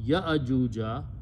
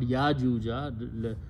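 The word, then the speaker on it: يأجوج: the and and again when this is not exactly alif this is a hamza so you pronounce ya ajuja not yajuja like this is not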